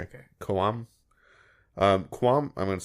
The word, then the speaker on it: Koum: to mispronounce that name, Koum, Koum, decided to move on amid reports he had a difference of opinion with parent company Facebook over data privacy. Did you say KOAM? Koum, sorry. Oh, okay. Koum.